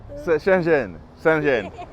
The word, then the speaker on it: Shenzhen: Shenzhen, that's how they say it in Mandarin. You speak Chinese? Shenzhen.